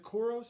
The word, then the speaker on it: Koros: And then the one person I picked in the is it Koros?